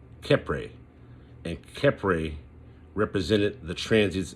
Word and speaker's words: Khepra: Again, I'll spell it again. Khepra. Khepra.